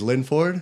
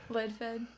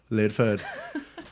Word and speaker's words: Lidford: podcaster, long-time listener, Linford. Woo! Did I say that right? No. How do you say it? Lidfed. Lidford. Lidford. Lidfed.